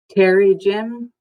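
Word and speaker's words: pterygium: show the case for its terry gym is how it's pronounced and it's an abnormal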